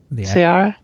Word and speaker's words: Ceará: And they have sampled marmosets and capuchin monkeys throughout the state of Ceará. Is that how you say it? Ceará? Ceará.